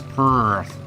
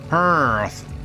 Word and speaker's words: Perth: You You got to put your R in there. It's Perth. Perth.